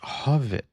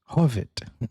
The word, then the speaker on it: Hov1: This comes from Susan who says, "This is a Swedish group HOV1 or actually pronounced Hovet." Hovet.